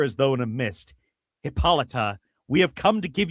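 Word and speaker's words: Hippolyta: They spell it Hippolite here, but like in subsequent appearances, she's just Hippolita. Hippolita.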